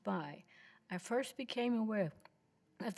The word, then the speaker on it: Bay: B A Y H pronounced by because nobody can say it. Can you get closer to the mic? I apologize. Hello to everyone. My name is B. B- A Y pronounced by.